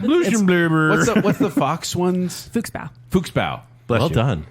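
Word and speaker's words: Fuchsbau: Yeah, because I can pronounce that. Yeah, you got Not Blutbad. Blusenblubber. What's the fox ones? Fuchsbow.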